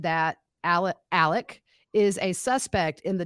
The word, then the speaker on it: Alex: thing uh it's not alex it's pronounced alec which is the southern way to pronounce alex i'm not sure why